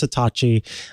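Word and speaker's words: Satechi: about satachi products and yes I promise it's pronounced satachi I guess this question a lot yeah um but satachi they make products that are designed very well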